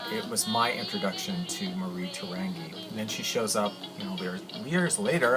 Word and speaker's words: Mariterangi: I'll just briefly say her name is Marita Rangi or they may pronounce it ma da da anggee in Tahiti I don't know my first